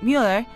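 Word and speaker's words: muller: is woman it's pronounced Mueller which is like the Elish sound you make when you say the word million now Spanish-speaking people are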